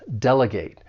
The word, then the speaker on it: delegate: This verb has three syllables. The stress is on that first syllable, delegate.